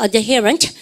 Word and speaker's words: adherent: 발음을 갖다 붙여 adherent. 근데 D 사운드가 잘 안 들리죠. 그죠? 그렇습니까? 드가 안 들고 adherent 안 그러고 아까 사운드 보니까 뭐예요? adherent. 그죠? 발음하니까 adherent. 잘하셨습니다. 드 사운드 약간 시키고 우리 반 동사부터 시작해볼까?